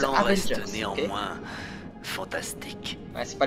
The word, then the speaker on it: Avengers: Ça se prononce Avengers.